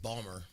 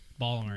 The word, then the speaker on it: Baltimore: the wire and that they say Baltimore instead of pronounce in the vault a lot of them a lot of when you get really these thick bawlmer Ballmer yeah yeah they're really